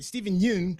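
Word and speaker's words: Steven Yeun: I was a Stephen Stephen Yoon Stephen Yoon I think that's how his name is pronounced but I was saying it wrong uh last time I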